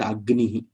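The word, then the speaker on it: अग्निः: Now Gakara and Nakara have come together, and because of the Shiksha Shastra and the Vedic pronunciation, the Gakara, one more Gakara comes. One more Gakara is seen in all the pronunciation which are Agnihi. That one more extra thing is seen. Now that letter, with extra letter which is seen before the 5th letter, is called Yamavarna.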